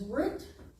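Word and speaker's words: רות: name of Ruth is root but it does not add a doggish in it so they they did a th so Ruth but it's still pronounced root roof root in Hebrew Ruth in English it's root so that's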